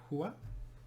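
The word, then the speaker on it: هو: say that in arabic we know he is pronounced hua and when we start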